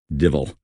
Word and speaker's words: devil: How well I remember the constant refrain, "Idle hands are the tools of the devil," pronounced in the Scots way, divil.